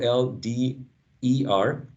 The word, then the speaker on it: older: right we see that older is spelled o o-l-d-e-r but in general that's a schwa right older older these new york city streets get colder so this they rhyme right older and colder a shoulder also rhyming